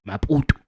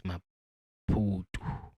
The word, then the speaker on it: Maputo: Maputo, because if I was to say it in my home language, it's gonna be Maputo. But I'm sure it's Maputo.